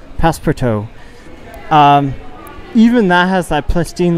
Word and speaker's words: Passepartout: It's a French word. Passepartout. Passepartout, there we go. It's like Passepartout.